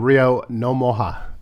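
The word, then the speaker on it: Rio Ngumoha: Among them, Rio Nomoha. Yes. That's the correct spelling, pronunciation of his name.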